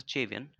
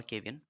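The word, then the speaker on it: cevian: sure you know this is pronounced as a chavian c h e and not cian or cavian so now onwards pronounced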